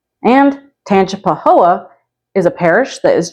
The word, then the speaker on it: Tangipahoa: mouthful it is spelled like that and it's pronounced Tangipahoa and tanap Pahoa is a parish that is just about an